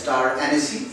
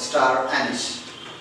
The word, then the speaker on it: star anise: As it is incorrectly pronounced as star anise, it's not star anise. It is pronounced as star anise.